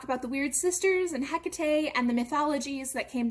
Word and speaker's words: Hecate: hecate some people say hecka t uh she is a greek goddess so it's quite likely that you don't pronounce the h at all and depending on the